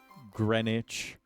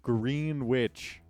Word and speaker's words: Greenwich: chat thoughts on the fact that uh this is pronounced Greenwich and not green witch.